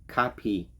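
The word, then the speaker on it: kape: a really really good copy but it's pronounced it's spelled k-a-p-e copy and it means coffee now in Spanish you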